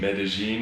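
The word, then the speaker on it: Medellín: Medellin.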